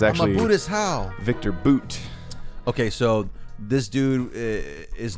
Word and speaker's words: Bout: his last name uh b-o-u-t uh but it is boot it's not about I do like uh